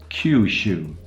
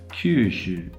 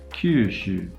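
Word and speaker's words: 九州: is pronounced it's called Kyushu Kyushu you should see that I'm not really rounding my lips if you listen to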